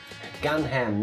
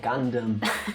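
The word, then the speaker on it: Gundham: a tiny bit suspicious gun ham no gundam oh gundam i said gun gun wow that's how it's spelled yeah but it's gundam like the mech thing yes i know i've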